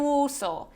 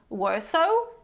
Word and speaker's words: Warsaw: are many foreigners in Warsaw so don't say foreigners and worso say foreigners and Warsaw okay another one number five